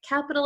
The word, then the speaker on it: capital: And just so we can go over pronunciation one more time, we have a T here. However, we do not pronounce it in American English like a true T sound, like t, t, t.